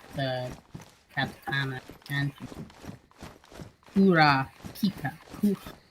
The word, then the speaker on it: Kurapika: Like, I know most of the basic, like, the katakana and Kura Pika. Kurapika. Yeah. Crappy Pika. Gotcha. No, sorry. I intentionally mispronounced.